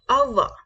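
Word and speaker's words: au revoir: करना है कैसे बोलेंगे गुड बाय कैसे बोलेंगे अहवा कैसे बोलेंगे अहवा अहवा कैसे बोलेंगे अहवा please repeat with me अहवा अहवा good bye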